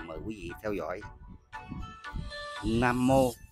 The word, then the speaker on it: Nam Mô: Nam Mô là tiếng Phạn, cũng đọc là Nâng Mô.